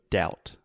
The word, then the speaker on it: doubt: don't say it so imagine the pronunciation is just like ow ow so doubt doubt perfect and one